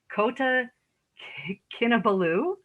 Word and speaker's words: Kota Kinabalu: After graduation, she moved to, okay, here we go, Kota Kinabalu.